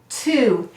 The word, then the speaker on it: two: And do we hear a w in this word? No, this is silent. So we read t-oo, 2.